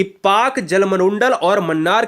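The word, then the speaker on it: Palk: ये पाक Jalasandha P एलके को हम पाक कहते हैं। ठीक है ना? इसमें एल साइलेंट होता है।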